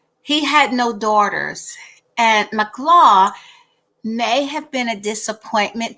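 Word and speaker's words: Mahlah: named her makla or mclaw it's spelled like mala but as mclaw in the hebrew rendering and so i looked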